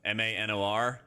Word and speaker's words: Manor: See where it's spelled? M-A-N-O-R? It's actually called Manor.